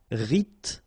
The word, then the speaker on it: rythmique: Remember, Y pronounced like I and then H doesn't exist. Rythmique.